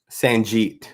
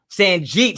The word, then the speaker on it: Sanjit: Sanjit. Sanjit.